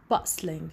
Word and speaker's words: bustling: gonna be puzzling as as i told you that t is sign and written but not pronounced written but not to pronounce so the first one